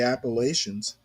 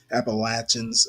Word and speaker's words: Appalachians: It's right near or in the Appalachians. And I know I don't pronounce them the Appalachians. I hate that pronunciation.